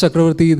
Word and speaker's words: Chakravarty: students and he invited me that's why you pronounce chakrawarti the correct way uh sir I am an